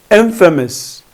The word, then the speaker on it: infamous: one also you need to focus on the pronunciation it's Infamous Infamous Infamous means someone who is well known